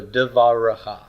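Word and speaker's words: דְּבָרְךָ: bet right before it, I've got a method there to tell you to pronounce that as a long A and pronounce the shava as vocal. So devaracha, your word, man.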